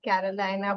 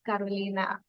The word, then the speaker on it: Carolina: hello a picture hello I said your name wrong right I said Carolina but it's Carolina no problem I got